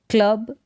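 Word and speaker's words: claw: Cloud, clip, next है क्लो, क्या है क्लो, इसको क्ला करके ना पढ़े, ये AW का जो उच्चारण है ओ करके है, क्लो।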